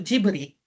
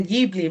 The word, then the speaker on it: Ghibli: E aqui eu mostro algumas imagens do filme de animação A Viagem de Chihiro, do estúdio Ghibli, né? Para nós é Ghibli, mas os japoneses pronunciam Ghibli.